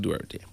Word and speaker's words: Duterte: I pronounce it Duterte.